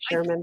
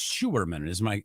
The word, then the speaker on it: Schuerman: I prefer to go by Camper Christina anyway, so I just say Sherman though. I should have revised that. That is my fault. Actually, and it's Schuerman.